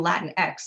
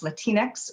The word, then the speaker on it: Latinx: it can be pronounced latinx or latinx i prefer latinx because it keeps the spanish sound of latino and latinx sounds a